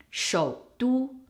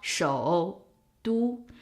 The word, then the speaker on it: 首都: But as a word, you really shortens the 首. So what happens is you don't go up anymore. It just goes down and then it connects to the second first tone character. 首都, 首都, 首都, not 首都. The O that goes up part disappears.